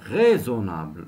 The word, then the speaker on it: raisonnable: elle était restée raisonnable raisonnable n'oubliez pas est-ce entre de voyelles se prononce Z maintenant complète par portée